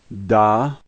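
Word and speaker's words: да: The first letter is de, and the A is pronounced like our A, and so this word is da.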